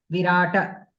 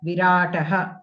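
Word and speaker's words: विराटः: You were pronouncing like yuyudhana, virata, like that you are pronouncing.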